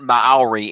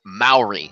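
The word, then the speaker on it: Māori: my pronunciation was off it is evidently not Maori its Maori so that's Maori sorry about that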